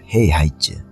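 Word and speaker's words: 黑孩子: 헤이하이즈라고 그래요. 헤이하이즈. 쯔라고 해도 되고, 쯔 이렇게 발음하기도 하는 것 같은데, 흑핵자 이렇게 해가지고, 헤이룡성 이렇게 이야기를 하면 흑룡성이잖아요.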